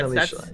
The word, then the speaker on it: Annellintia: How do you say it? Annellintia, yeah. Annellintia, yeah. That's how I've been taught.